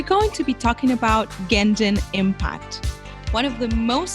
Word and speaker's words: Genshin: Well, this depends on the fact that the developer uses Japanese pronunciation Genshin for this word, not only for the Chinese market, but also for the global market.